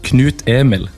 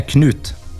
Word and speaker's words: Knut: correct it's actually pronounced Knute and knut yeah Knute cool see I thought for some reason I thought the K would be silent that's what I tried